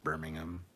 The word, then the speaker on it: Birmingham: to meet them when i was over in birmingham that i said it right birmingham it's birmingham anyway um good guys and definitely good people